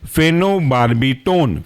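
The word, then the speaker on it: phenobarbitone: था long acting इसके अंदर का एग्जांपल है फेनो बार्बी टोन फेनो पी एच ई एन ओ फेनो और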